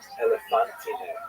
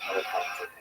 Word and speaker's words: Elephantine: You see the town Elephantine. Now, I always pronounce that, by the way, Elephantine. So I look a little more carefully. I think it's supposed to be pronounced Elephantine.